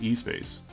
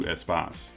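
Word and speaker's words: Espace: that began in 1984 which most americans would probably pronounce as e-space but i think the correct pronunciation was probably closer to espos so for my european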